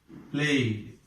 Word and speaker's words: played: This ed is pronounced as do here. Played.